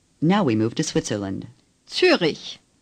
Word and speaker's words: Zürich: Zürich. Say Zürich. The Ü is like the Ü in Düsseldorf, only a little bit longer.